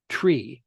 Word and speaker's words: three: You don't use the th sound at the beginning. It is tree with no h in there.